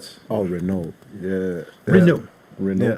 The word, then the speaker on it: Renault: Renault. Yeah, The Renault. T is silent.